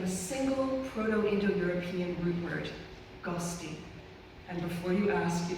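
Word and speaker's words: ghosti: guest originate from a single proto-indo-european root word Gusty and before you ask it is spelled g-h-o-s-t-i it roughly translates to someone with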